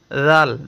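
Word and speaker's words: ذال: উত্তর হচ্ছে, জাল অক্ষর জিহ্বার আগা থেকে নরম করে পড়তে হয়। জাল, জিহ্বাটা বের করে দিব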